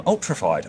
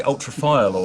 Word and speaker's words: Ultrafide: I am Brad and I'm joined by from Ultrafide. I was just checking your card to make sure I say it right. Yeah, Ultrafide audio. Oh, yeah. Ultrafide audio. I was about to say ultrafile audio, and that's a new